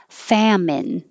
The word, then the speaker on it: famine: so magic wand wand famine two syllables famine feminine three syllables